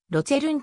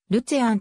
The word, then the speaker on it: Luzern: 圏に属するが現地のスイスドイツ語ではロゼルんと呼ばれるまた現在の標準ドイツ語ではるちあンとも発音される毎年 8